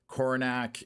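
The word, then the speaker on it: Coronach: So, Coronac is definitely uh not how I would have pronounced it.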